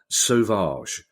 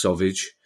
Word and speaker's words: Sauvage: Our final question, Kieran, comes from Tom Sauvage. I've gone for the coolest possible pronunciation of that name. If it's actually pronounced Sauvage, as in sausage.